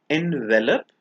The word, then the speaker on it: envelop: language users the one on the left is pronounced envelop and the one on the right is pronounced